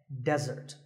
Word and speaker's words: desert: be confused with desert here the stress is on the first syllable which is death desert now I said that